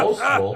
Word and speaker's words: boastful: We call that boastful, and it's got the ST where you can hear the T in it, so it's ST, boastful, boastful.